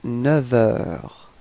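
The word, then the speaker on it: neuf heures: change the sound, so we won't pronounce the F, but it would sound a bit more like V, like a V.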